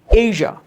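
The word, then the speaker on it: Asia: Okay, the next word আমরা যেটাকে এশিয়া বলে থাকি, আসলে ফনেমিক সাইনে সেটার উচ্চারণটা একটু ডিফারেন্ট, সেটা হলো তোমার এশিয়া, এশিয়া, নট এশিয়া বাট এশিয়া, এশিয়া।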